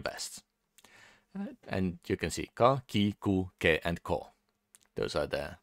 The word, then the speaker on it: か: up a single syllable you pronounce it you pronounce this as car so it's kind of